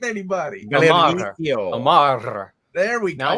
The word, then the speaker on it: Omar: Everybody calls me Omar when it's not even Omar. It's Omar. Come on now. Oh, we have to roll that R? I don't even correct anybody. Omar.